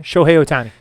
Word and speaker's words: Shohei Ohtani: Shohei Ohtani.